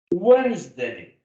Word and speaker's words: Wednesday: Wednesday. We don't pronounce the D, you know this.